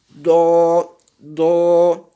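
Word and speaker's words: ض: Et ça donne dans la prononciation, ça donne techniquement do, do, do, do, pas doigt. Parce que certains disent, voilà, doualine. Ce n'est pas doualine. D'accord? Donc, doigt, ce n'est pas la bonne prononciation.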